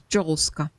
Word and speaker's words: Joska: No, if she was to be uh pronounced Yolska, she would be spelled with Y, right? So, she's Joska.